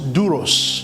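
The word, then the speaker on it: δοῦλος: Servant, children of God, Serviteur, enfant de Dieu, it's a borrowed word from Greek, c'est un mot qui vient du grec, which is pronounced douros.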